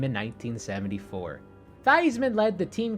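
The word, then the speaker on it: Theismann: Joe thyman actually pronounced thesman thyman changed the pronunciation of his surname while at Notre Dame to rhyme with Heisman in a bid for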